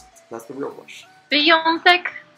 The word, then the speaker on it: wyjątek: Okay, so, but now how do I properly pronounce it? That's the real question. Wyjątek. Wyjątek.